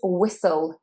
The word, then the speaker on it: whistle: But this is where we have that silent H, which you probably know happens quite a lot in English, like in what and where. So this is whistle, whistle. And the T, you can't really hear the T. We don't say whistle. So the T, we kind of just skip it.